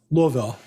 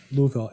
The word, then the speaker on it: Louisville: Louisville. Looville. Louisville. You're missing a syllable there, honey. No, I'm just kidding. That's how I can tell you're legitimate when you say it like that. It is. I've lived here 19 years now, and I had to get educated on how to say the city name right.